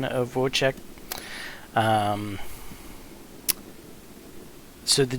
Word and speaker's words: Wojtek: oh why t EK but in proper check whoa check here would be wo j tik is it